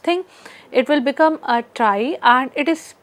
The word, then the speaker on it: trie: are going to use a try so TR is spelled as t r i e and if we want the plural thing we will say t r i e uh s so this term try actually comes from uh the word retrieval so in retrieval if